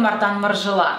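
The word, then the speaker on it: Martin Margiela: последнего показа с брендом Мартан маржела Да кстати именно так и правильно его произносить это французская версия произношения есть американская но так как бренд французский Я предполагаю что французским вариантом его называть будет правильнее для того чтобы проверить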